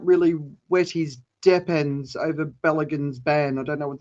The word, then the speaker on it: Balogun: I'd hate to be Balogun, that's how you say his name.